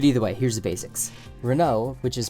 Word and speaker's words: Renault: near future but either way here's the basics Renault which is pronounced like this is a French car company